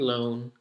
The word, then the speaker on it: loan: So one, wa, one, own, and owl. And loan, which rhymes with own.